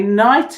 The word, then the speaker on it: knight: that we would have a K and an N mmm silent K and then I and then it's so mmm I nights as in the ones that joust wear armor have a knight now what about if